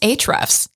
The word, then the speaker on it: Ahrefs: It's actually pronounced Ahrefs.